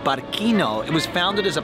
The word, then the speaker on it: Barcino: So you'll see these letters behind me spelling Barquino. The C is pronounced K, and that was the name of Roman Barcelona when it was first founded.